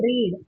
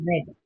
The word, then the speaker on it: read: Again it is read. I will read a story book tomorrow. I want to read a story book. But if it was in the past tense then you will say it as read. I read the book yesterday.